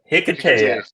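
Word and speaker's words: Hiketeia: was that, and I know I'm going to pronounce this wrong, the Wonder Woman Hi- The Hikidia. Hikatea.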